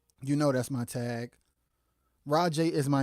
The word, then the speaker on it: Rojay: it's because people kept people always call me Ro Jay because capital j a y which is pronounced rajay because of the capital J but I don't want